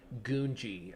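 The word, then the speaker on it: Gungi: I was trying to figure out how to pronounce it correctly and Ahsoka does pronounce it Gungji. I'm just gonna say it, but I feel less silly saying Ganji, so that's what I'm gonna say.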